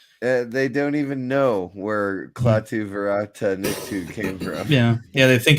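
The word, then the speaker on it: Klaatu barada nikto: Oh God, Klaatu Varata Nikto.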